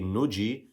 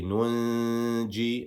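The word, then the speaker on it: نُنجي: So here we don't just say nuji, we say nunji, and we treat it as if there was a noon sakin that was written there.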